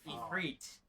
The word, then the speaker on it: Ifrit: Ifrit, as they pronounce it in game. I mean, that is the correct. To be fair, that is the correct pronunciation of the original source either way.